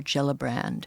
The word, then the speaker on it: Gillibrand: Senator Gillibrand. Yeah. Is that how you pronounce her name?